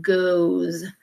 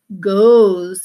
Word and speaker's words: goes: So the O-E here is making the long O sound, goes. Now the spelling is similar to does. They both have O-E-S, but they're tricky because does sounds like an goes sounds like a long O sound, goes.